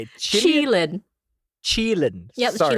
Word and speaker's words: Qilin: Well, do you see a Killian kicking my ass? Qilin. Sorry, how do you say it? Qilin. Chilin. Yep, Sorry, Chilin.